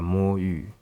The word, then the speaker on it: Moyu: So as you might think, the first word is pronounced as mo, and the second word is yu.